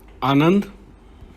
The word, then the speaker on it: Anand: Anand. Record the pronunciation of Anand by speaking into your iPhone's microphone.